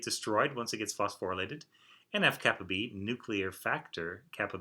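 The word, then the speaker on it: NF-κB: And when I'm saying kappa B, I'm just pronouncing the lowercase Greek letter K that's here, which is a kappa.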